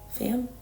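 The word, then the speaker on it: Pham: Destiny Sidwell and uh Haley fam is how you say her last name fam um yeah I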